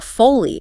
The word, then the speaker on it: Foley: To monitor their fluid balance accurately, you might need to insert a Foley catheter.